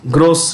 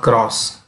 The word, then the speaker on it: gross: growth rate gdp gdp gross domestic product how do you pronounce it this is gross not cross gross gross domestic product